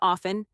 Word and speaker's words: often: You mean often? That T is shy.